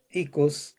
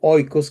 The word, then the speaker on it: oikos: Hay todos unos estudios académicos acerca de cómo funcionaba este icos o oikos, como se escribe con las dos letras juntas, este icos griego que tenía esta función de ir a traer.